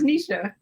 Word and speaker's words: Niesha: doing how you doing you gotta call me it's nisha oh nisha anisha i'm sorry i did i did